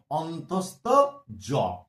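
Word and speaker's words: অন্তস্থ য: অন্তস্থ জ। শুধু জ বললে ভুল হবে, এর অরিজিনাল উচ্চারণ বা নামটা হচ্ছে অন্তস্থ জ।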